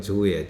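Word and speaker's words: 城: 자, 그 다음에 히메지성이 나오는데 히메지조 성이라는 말은 우리나라 캐슬이라는 성은 일본식 발음으로 조예요.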